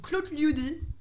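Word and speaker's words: Klotljudi: Alors, il y a le groupe Claude Liudi. Ça s'écrit K-L-O-T-L-J-U-D-I.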